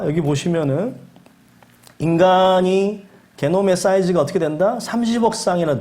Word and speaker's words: 게놈: 게놈이라고 하는 거예요. 게놈, 지놈. 영어로는 지놈이라고 합니다.